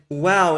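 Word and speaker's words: וָו: So it is very clear that since the biblical time period, they used the w pronunciation of the vowel, because you can even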